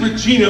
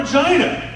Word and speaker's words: Regina: named after the queen now it's actually regina but where's the fun in that pronunciation so we call it regina and the locals call it for jj i kid you not they actually do go there right vagina good times that was